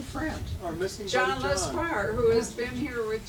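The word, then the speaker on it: Lescroart: Notice how I pronounce it, Lesquire, for those of you who don't know.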